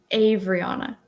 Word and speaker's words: Avaryana: I think her name is pronounced Avariana. Am I saying it right? Is he correcting me? Do I have to correct how I pronounce your name? You're so close. It's Avariana. Avariana.